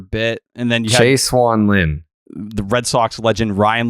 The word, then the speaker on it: Lin: well how did you say Jeremy Lin noon Lin that's how you pronounce it it's been a long time since